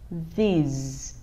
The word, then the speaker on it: this: Chúng ta đặt lưỡi ở giữa hai răng này.